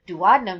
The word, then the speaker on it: duodenum: So like I said before, duodenum is the correct pronunciation, but I always think of in my head duodenum to help me spell it.